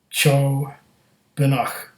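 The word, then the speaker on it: Ceòbanach: limited batch bav chob pronounced Cho benak choak I was right and meaning Smoky mist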